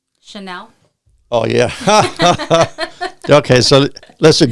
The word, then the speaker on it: Chanel: Called Channel No. 5. Chanel.